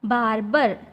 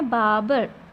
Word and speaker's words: barber: ये जो वर्ड है बाबर, इसमें आर और ई ये दोनों साइलेंट है। ऐसे हम पढ़े तो इसका प्रोनाउंसिएशन होगा बारबर, लेकिन ये राइट प्रोनाउंसिएशन नहीं है। इसका राइट प्रोनाउंसिएशन है बाबर। मतलब यहाँ पे आर और यहाँ पे ई साइलेंट है।